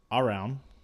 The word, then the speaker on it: Arawn: But anyways, so Arawn, like clown.